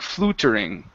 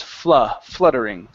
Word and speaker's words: fluttering: So in most cases, the U in English is not pronounced oo, like flutering. Okay. The letter is typically pronounced Okay. Probably about 80% of the time. Okay. So instead of flutering, the word is fluttering.